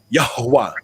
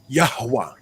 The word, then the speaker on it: Yahuwah: hey you pronounce it yahuwah because you you want to exhale yahuwah you know in english it looks like yahweh but in hebrew yahuwah yahuwah they don't want